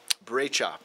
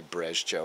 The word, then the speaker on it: Brejcha: Brejcha, Boris Brejcha. Okay, cool. Yeah, no one would say Brezjo. What was I thinking with that pronunciation?